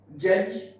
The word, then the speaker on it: judge: When there is a D and after D there is GE, then that D is silent. Like judge, badge, budget, edge, okay.